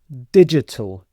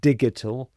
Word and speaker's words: digital: Digital. Dig. This sounds like a J sound. So not digital but digital digital digital and digital is using or related to computer technology and the internet.